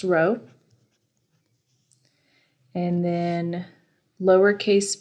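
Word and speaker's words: rho: Mass over volume and this is pronounced row and then lowercase V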